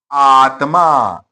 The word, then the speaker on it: आत्मा: लुप्त हो जाएगी कैसे उदाहरण दिया है आत्मा शब्द है आत्मा अब इसको तोड़े हम कैसे जो ऊपर हमने किया था आ और त यह देखिए जो आधा है वर्ण हमें लिखना उसके साथ में ही है पहले वाले के साथ